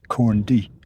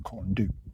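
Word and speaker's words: Corn Du: the hill next to it is spelled c-o-r-n corn and then d u but the U is an e so it's actually corn D not to corn do corn d Caribbean is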